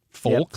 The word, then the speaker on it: folks: L in folks but all the online dictionaries that I looked at show that the L is silent Frank Belleville says the